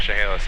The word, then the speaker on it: Chehalis: Tell them we're probably about 5 miles to the northwest right now of Chehalis Lake. How you pronounce? Chehalis. Chehalis? Yeah, so it's a C-H-E, so Chehalis.